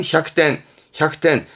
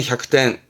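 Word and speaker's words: 百点: 발음은 햅텐 100점입니다. 햅텐.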